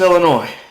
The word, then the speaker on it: Illinois: okay okay all right illinois it's illinois okay it's illinois i know it's i know it's got an s at the end but it's just illinois hey wait a minute